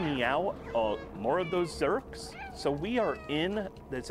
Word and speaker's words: Zurks: if you think, wait, what do you say, Zurks with a Z or a Z for our friends across the pond, but they rhyme with jerks because they are jerks, and they're going to